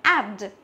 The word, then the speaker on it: add: như thế mà là add. Add, tức là nó là âm e bẹt, không phải là âm e như thế.